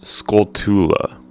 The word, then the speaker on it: Skulltula: destroyed a gold skull no scoltula is how you pronounce that you destroyed a gold